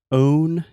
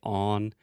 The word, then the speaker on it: own: So first, own. You always have a problem with this word. You almost say on. You really have to have the O sound, that long moving vowel.